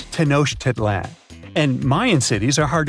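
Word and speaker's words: Tenochtitlan: Can you pronounce this name of the Aztec capital city? Yes, it's quite difficult to say in English and above my pay grade. Okay. Okay. It's Tenosh Titlan.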